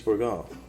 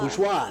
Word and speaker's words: Bourgeois: It's the same thing with, Louise Bourgon. Bourgon? Bourgeon, I think. Louise Bourgon? However you say her name. Wonderful sculptress. Oh! She did the large... Louise Bourgeois. Bourgeois, that's it.